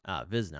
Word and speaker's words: Wizna: Wizna, I said starting with the W. Apologies for pronouncing the battle name wrong.